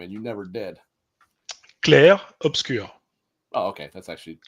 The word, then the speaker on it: Clair Obscur: It's just like the obscure, It's like a Mm, U.